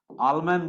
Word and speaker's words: Ahlmann: AHL, आलमैन बोलते हैं इसको, एच साइलेंट है, AHLMANN।